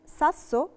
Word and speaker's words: sasso: لما يكون عندي كلمة فيها دبل اس، دوبيا اس. Le parole con doppia s si pronunciano con la s. زي كلمة sasso. Sasso يعني طوبة أو حجر. Sasso. Sasso فيها قاعدتين. فيها أول حاجة القاعدة بتاعت s وراها فوكالي فنطقتها s، وفيها القاعدة بتاعت الدوبيا s فهي اسمها sasso.